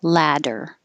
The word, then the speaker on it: latter: it l-a-d-d-e-r or l-a-t-t-e-r they both sound exactly the same because the t's will change to d's ladder the one spelled with